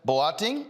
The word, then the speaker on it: Boateng: Joining me now from Canada is Leah Boateng, owner of Mercy Cookware and Company. Did I pronounce the last name right?